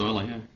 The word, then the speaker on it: Euler: Are you telling me I've been pronouncing like Euler wrong all these years? Apparently, it's pronounced Euler.